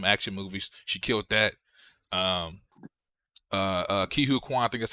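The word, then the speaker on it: Ke Huy Quan: Ki-Hu Kwan, I think that's how you say his name.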